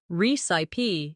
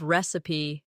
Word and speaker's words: recipe: Pronunciation can also show your level. Beginners sometimes say recip instead of recipe or comfortable instead of comfortable.